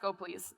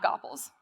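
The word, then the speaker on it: gopls: And yes, it is pronounced Goplease, not Goples.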